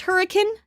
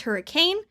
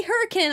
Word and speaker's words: Hurricane: Utah Hurricane Utah actually and also it is pronounced hurricane not hurricane this is a common misconception I made that